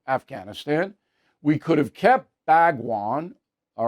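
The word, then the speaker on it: Bagram: we could have kept bagwan all right bagwan saying it wrong could have kept our air base right bagron uh which I actually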